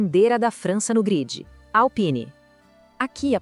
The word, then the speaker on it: Alpine: E na Alpine é só focar no som claro de Pen.